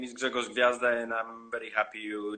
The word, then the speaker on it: Grzegorz Gwiazda: Since I'm Polish, we have a lot of this in our pronunciation. So I understand this is pretty difficult for people from abroad. My name is Grzegorz Gwiazda, and actually my surname means star in Polish.